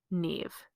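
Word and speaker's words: Niamh: look at something else like the name Neve for example the m and the H at the end of that name create a v sound so it's n i a m h and that becomes Neve but the MH in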